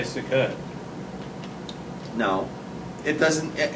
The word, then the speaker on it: Sukkot: mispronounced the word because the only people who can say sukkot are people who are smart or you know israeli but since you're not